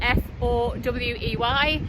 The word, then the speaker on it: Fowey: We are in the little town of Fowey, specifically. It's spelled f o w e y, but it's pronounced Fowey.